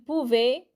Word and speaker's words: pouvait: Il lui a déjà demandé s'il pouvait AIT. When the word ends with AIT, it's pouvait. AIT gets pronounced like an E with an accent.